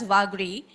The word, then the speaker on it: Vagri: So we would pronounce it vagri vagri whichever way you would like to the community would like to uh pronounce this as vagri.